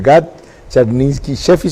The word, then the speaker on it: Gad Charninsky Sheffi: Gad Charninsky Sheffi, ¿se pronuncia? Correcto.